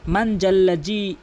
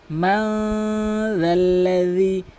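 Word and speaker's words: مَن ذَا الَّذِي: অধিকাংশ লোক বলে মান জাল্লা জি আশফাউ ইনদাহু ইল্লা বিইজনি, এভাবে উচ্চারণ করে। এভাবে তেলাওয়াত করলে তেলাওয়াতটি অশুদ্ধ এবং এই তেলাওয়াতে নামাজ পড়লে নামাজ ভেঙে যাবে। বলতে হবে মান জাল্লাযী, মান না বলে মাং বলতে হবে, জাল্লা না বলে রাল্লা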